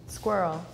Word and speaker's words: squirrel: like a curse word native pronunciation squirrel squirrel squirrels so it would be like Earl or Earl ier oh no no like O's no O's in there okay we're getting